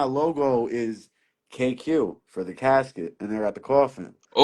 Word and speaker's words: Kassqit: it, you can tell it clearly says Casket, like Casket. casket. Yeah, Like yeah, if Siri pronounced that shit, if Google AI pronounced that, they'd be like, they would think it says casket. That's what they'd be like, Casquate.